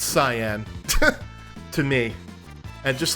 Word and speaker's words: Cyan: uh I know that a lot of people say that it it's Cayenne instead of cyan I would have thought it would be like Cen because it rhymes with Elaine and O so I